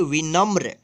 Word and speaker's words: विनम्र: देखिए यहाँ पे वी न और यहाँ पे म्र, यानी म में र पदेन है तो इसको पढ़ेंगे विनम्र।